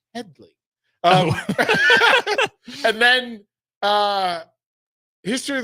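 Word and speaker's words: Hedley: on the actress HED Lamar and they keep mispronounced they keep calling him Hedy and he's like it's Headley and then uh history of the world Harvey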